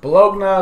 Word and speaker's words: Bologna: Bologna is one of those characters. Yes, I call her Bologna. No, I will not call her anything other than Bologna because that's how her name is spelled.